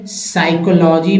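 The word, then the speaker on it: psychology: में P silent है साइकोलॉजी में पी साइलेंट रिपीटेड हो गया है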